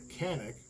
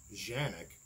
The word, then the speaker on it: Canik: to be looking at a pistol called the Canik, or as they say it's pronounced, Canik, the TP9SFX.